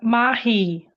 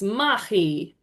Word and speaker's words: mahi: Lucy, would you like to have a go at pronouncing activity for us? The Māori word, of course. Yeah, mahi. Perfect. Yes, mahi.